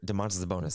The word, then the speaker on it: Domantas Sabonis: Now, going through Domantas Sabonis stats right here, Domantas Sabonis, that's how you say it.